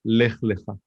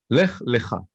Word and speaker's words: Lech Lecha: And if you take away the punctuation, the vowels, they're the same word. It's Lamed and then Chaf. Lech Lecha. It's pronounced differently, but if you look at the Torah scroll, you can't see the difference.